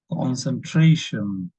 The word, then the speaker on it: concentration: Concentration, stress on tra.